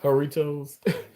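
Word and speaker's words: Jarritos: Um, it's just take away the J. The J silent. So, is it Do you pronounce it? Heritoss, maybe. Yeah, Heritoss.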